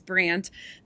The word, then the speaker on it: Brandt: A little rant for me though is about a horse who name who rhymes with rant and that is Brandt.